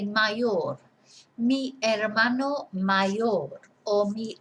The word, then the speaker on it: hermano: brother and la hermana remember we don't pronounce the H so el hermano that hermana and the